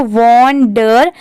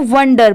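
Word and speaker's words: wonder: ठीक है, यहाँ पर बेसिकली इसका प्रोनाउंसिएशन है वंडर, वंडर। जैसे जो पूरा लिखा है तो इसको वॉन्डर ऐसे नहीं पढ़ते, इसको वंडर पढ़ेंगे।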